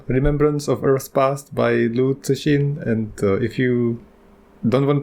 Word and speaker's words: Liu Cixin: Paolo recently told me about the Japanese pronunciation of that, which was hilarious. It was Jikin. So Japanese people say Jikin. We said Chichin. The closest to the actual pronunciation, it's Tsushin. But I'm not sure about that, so don't quote me on it.